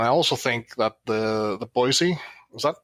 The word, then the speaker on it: Boise: And I also think that the Boise, is that pronounced correctly?